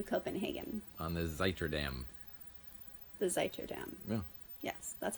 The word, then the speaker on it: Zuiderdam: The Zuiderdam.